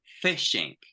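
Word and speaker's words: phishing: this again fishing fishing look at the pronunciation when you go fishing to catch a fish it's with an F sound and when we talk about service SEC it's profound and we say fishing please repeat okay look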